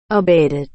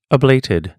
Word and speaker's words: abated: จะ ออก เสียง ว่า abed แต่ ถ้า เป็น สำเนียง อังกฤษ จะ ออก เสียง ว่า abled เป็น คำ คุณศัพท์ แปล